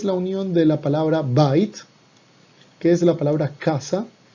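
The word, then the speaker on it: בית: Aquí es bait cuando va sola, cuando va acompañada se convierte en beit.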